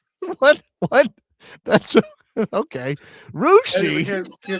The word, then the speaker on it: Russia: Some people according to this the Wikipedia page for this village in western Ohio is rushi.